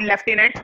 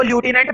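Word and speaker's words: lieutenant: What information do you gain about लेफ्टिनेंट लोटा? जो लेफ्टिनेंट लोटा था, इसको ल्यूटिनेंट बिल्कुल नहीं पढ़ते, क्या पढ़ते हैं, लेफ्टिनेंट।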